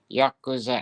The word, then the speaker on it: Yakuza: It is called the, how do you pronounce that, Masaji? Yakuza.